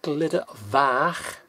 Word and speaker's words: Glyder Fach: which is the means Glitters uh you got glitter vac f a c h now the f is pronounced as if if you say in a